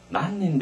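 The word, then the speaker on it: 何人: 난닌 데스까?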